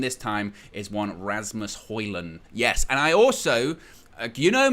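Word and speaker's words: Højlund: And basically, it's you don't say the D. You say Rasmus Hojlund, and you don't really say the D. You might kind of touch on it just a little bit, but you don't really say it.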